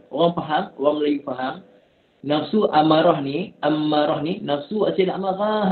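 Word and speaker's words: أمّارة: Dalam bahasa Arab bukan amarah, sabdu. Mim itu sabdu. Amarah.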